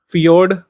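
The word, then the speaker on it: fjord: ध्यान रख सकते हैं फियोर्ड ध्यान रख सकते हैं जे साइलेंट है इसमें इसको फियोर्ड पढ़िए और डल बासन इसको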